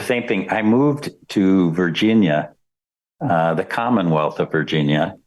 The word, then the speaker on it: Virginia: how do you say Virginia properly it's not Virginia Virginia there's there's there's emphasis on the Gin Virginia Virginia yeah that's